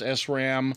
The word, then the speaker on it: SRAM: rams and dynamic rams and this is usually pronounced sram and this is usually pronounced dram although some